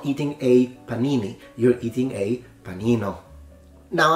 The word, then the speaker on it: panini: like Italian food you have had Panini now Panini if that's how you pronounce it that's correct but it's a similar